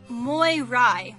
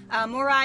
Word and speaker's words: Moirai: today we are playing mirai which may be a bad pronunciation because this is Greek more I is a Greek word that means fates from what I